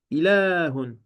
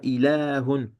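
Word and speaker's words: إله: Ilahun. Donc ici, il y a une prolongation. On la prononce, mais on la prononce, mais on l'écrit pas. On dira ilahun, ilahun.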